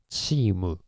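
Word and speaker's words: チーム: uh but uh in original Japanese we can pronounce t. So actually uh we change this to uh like that chimu uh but uh well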